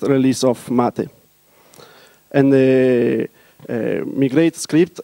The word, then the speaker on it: MATE: correct pronunciation and it's mate the word came from Spanish it's a beverage from the South America and mate as another